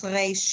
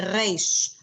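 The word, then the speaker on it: ריש: That's how I would pronounce reish in Hebrew. We say reish, r. It's glottal. It's all the way back there.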